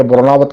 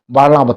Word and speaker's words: बाणनावत: तो बाणनावत पर्वत, जिसको कतिपय लोग अशुद्ध उच्चारण करके वरुणावत कहते हैं, वरुणावत नहीं बल्कि बाणनावत पर्वत, जो जिसकी पंचकोशी परिक्रमा होती है।